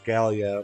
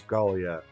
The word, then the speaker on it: Gallia: think it's interesting that some things pronounce it as Gallia, while others pronounce it as Gallia. Here in Fire Emblem, Path of Radiance and Radiant Dawn, it's pronounced Gallia.